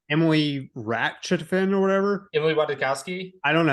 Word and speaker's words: Ratajkowski: Emily Ratajkowski? I don't know how to say her last name. Ratajkowski.